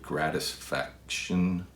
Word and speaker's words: Gratisfaction: Gratisfaction. Yeah, that's how you pronounce it.